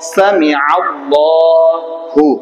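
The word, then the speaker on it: سمع الله: আগে দেখেন সামি, সামি আল, আল্লাহ, সামি আল্লাহু, কি হলো উচ্চারণ সামি আল্লাহু, উচ্চারণ কি হলো সামি আল্লাহু, ঠিক আছে।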